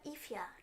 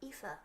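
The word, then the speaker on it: Aoife: the way it's spelled it's not ifia it's ifa ifa whatever dragonov coming to the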